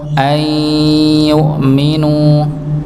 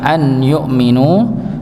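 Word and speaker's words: أن يؤمنوا: Ayyukminu ayy yukminu ya. Maka ditahan bukan an yukminu tapi ayy yukminu. Ya masuk ya masuk ke huruf ya.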